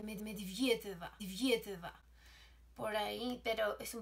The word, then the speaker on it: Medvedeva: Dicen los rusos que se pronuncia Medvedeva.